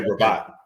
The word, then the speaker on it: Rabat: Apparently, and Isaac, how do you pronounce that tournament's name? The Rabat. I just say Rabat.